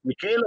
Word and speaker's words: Michelos: ti chiami Michelo, ma l'accento dov'è? Michelo o Michelo? Michelo perché è d'origine greca, Michelos, cioè come declinandolo, le olive sono sono greche.